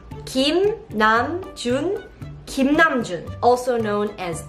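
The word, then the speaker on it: 김남준: And in this video, you are going to learn how to pronounce BTS members' Korean names correctly. Then let's start. The first name is Kim Namjoon. Kim Namjoon. Kim Namjoon.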